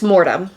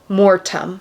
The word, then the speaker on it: Mortem: A lot of people spell it with a D because of how we say it, Mordum. Oh. But it's Mortem. Mortem.